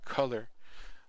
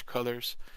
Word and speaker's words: Kuler: I think it's actually Color, but it's spelled Kuler.